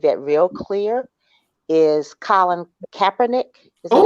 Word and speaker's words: Kaepernick: I think one of the things that recently made that real clear is Colin Kaepernick. Is that how you pronounce his name?